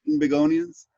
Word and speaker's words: Trinbagonians: Now they say that that Trinbagonians, right? That we're very musical people, and is that how you say it, Trinbagonians? Yeah. That's how we combine Trinidad and Tobago. Sounds like a flower, Trinbagonian.